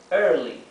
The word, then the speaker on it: early: One cada uno tenemos early early sí traten de pronunciar la r como la r inglesa con la lengua bien hacia atrás atrás de palab ear